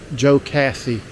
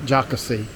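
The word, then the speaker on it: Jocassee: And the lake that's near here is Joe Cassie, not Jockasee. Joe Cassie, like it's two words.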